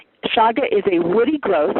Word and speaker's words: chaga: That's called a chaga.